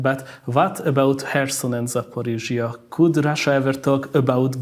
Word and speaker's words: Zaporozhye: And when we now liberate remaining parts of Zaporozhye, this is the Russian way to pronounce it, and Kherson, the people,